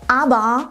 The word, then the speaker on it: aber: Dieses E sprechen wir gar nicht aus und das R am Ende wird vokalisiert. Es ist nicht ganz weg, es wird nicht verschluckt, aber es wird nicht mehr als R ausgesprochen. Genau, aber, aber.